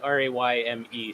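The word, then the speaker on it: Rémi: I've given up correcting people just because Anglophones just tend to call me Remi, and it is what it is. But Okay, so it's Ray and me. Yeah. It's pronounced like Rayme, sort of, you know?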